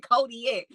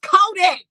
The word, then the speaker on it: Kodak: He said Kodiak. It's Kodak.